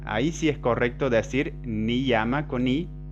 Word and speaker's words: niyama: Y cuando está al medio de una palabra, en el interior, ahí sí se pronuncia I. Entonces, niyama. Ahí sí es correcto decir niyama con I y no niyama.